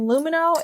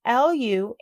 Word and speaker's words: Lumineux: Turns out the fact that all bacteria are bad is just a myth, and Lumineux is busting it wide open.